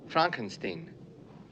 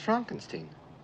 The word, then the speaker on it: Frankenstein: marty feldman who is he dr frankenstein frankenstein you're putting me on no it's pronounced frankenstein do you also say frodrick no frederick well